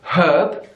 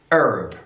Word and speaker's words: herb: British English we say herb herb we have the H we give it the pronunciation herb in American English herb herb they just take that H and they just throw it away herb either way it's